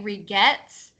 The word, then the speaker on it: regret: So Sadao, you kind of say regrets and your R, we can't hear it as much. And Satuyet, you kind of pronounce it too much.